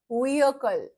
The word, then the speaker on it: vehicle: अ की आवाज आती है बीच में, यूएच की, हल्का सा ह वाली, अंदर से थ्रोट से अ बोलना है, vehicle, vehicle, vehicle।